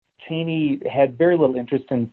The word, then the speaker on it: Cheney: And Strook thought he saw something of interest in young Cheney, or Cheney, actually, as they pronounced it back then. It was Cheney in later years, but Cheney at the time.